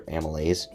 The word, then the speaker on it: amylase: can English you know Amy lays I can you know break it up and tell you it's amylase but anyway continuing that's